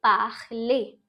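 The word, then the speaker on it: parlé: Alright, and we pronounce the E. So we say parler.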